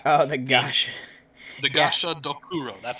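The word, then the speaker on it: Gashadokuro: Gasha Dokuro. That's how you pronounce AKA the Dread Gazebo.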